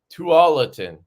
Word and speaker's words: Tualatin: Tualatin.